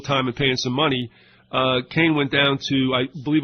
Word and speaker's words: Kahn: He pronounces it Kane, it's K-A-H-N.